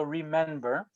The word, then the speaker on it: Remen: Remember is spelled REMEN, like men, so remember.